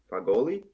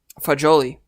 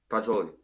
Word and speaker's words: Fagioli: Fagoli? Fagioli. Fagioli.